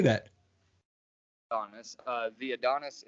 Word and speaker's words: Adonis: Adonis.